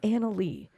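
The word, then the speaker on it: Annaly: Now, the name is Anna Lee, Okay. but it's spelled Oh, no. A-N-N-A-L-Y.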